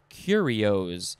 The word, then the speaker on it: curios: And then the synonym is the word curios. It looks like curious, but that's spelled with an O-U-S.